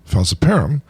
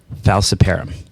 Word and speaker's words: falciparum: I pronounced it falciparum until I met Dickson, but I used to say falciparum until he tried to correct me. And I still say falciparum. So I'm not sure not sure who wins on pronunciation, but with malaria, we're